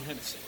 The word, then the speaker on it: Hennessy: John Hensley, right? Hennessy.